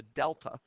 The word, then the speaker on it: delta: And when we're talking about the change in anything, we often use the Greek symbol of a triangle, pronounced the delta.